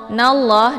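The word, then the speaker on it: إِنَّ اللَّهَ: Innallah, nallah di sini ada alif lam, namanya alif lam asy-syamsiyah karena sesudah alif lam terdapat huruf syamsiyah yaitu la. Cara bacanya nunnya langsung dileburkan ke dalam huruf la ataupun dimasukkan. Nallah. Dan untuk alif lamnya tidak lagi dibaca.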